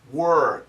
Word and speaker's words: we're: When we say this word fast, it actually sounds like were, the verb were.